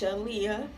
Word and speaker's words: Shaaliyah: Her name is spelled Aaliyah, and I just got the SH part for my mother name. So it's Shaaliyah, if y'all didn't know how to pronounce it.